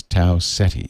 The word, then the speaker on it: Tau Ceti: The correct pronunciation of this star is Tau Ceti. Ceti.